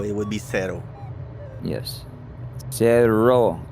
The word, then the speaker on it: Cerro: Cerro. You got to roll the Cerro. double R.